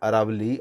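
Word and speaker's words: Aravalli: इसमें बनासकांठा, साबरकांठा, मेहसाना, गांधीनगर और अहमदाबाद, खेड़ा, अरावली और अरवली बेसिकली इसको प्रोनाउंसिएशन होता है, महिसागर और पंचमहल, आनंद, इन सभी क्षेत्रों में सामान्य से कम वर्षा रिकॉर्ड की गई है।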